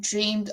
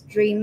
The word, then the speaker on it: dreamed: So remember when saying dreamed of, remember to say dreamed, not dream of. Dreamed of. So pronounce the whole word.